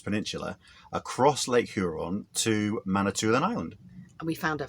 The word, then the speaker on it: Manitoulin: Manitoulin Island.